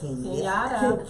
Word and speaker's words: Kenyatta: Kenyatta or Kenya? Kenyatta. Kenyatta. Yeah. Kenyatta. You gotta pronounce it right. Kenyatta. Kenyatta. Right. Oh, she put that hood term to it. Kenyatta. Kenyatta. It's Yada. Yada, baby. Yada.